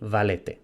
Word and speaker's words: valete: En pronunciación eclesiástica, vale y valete.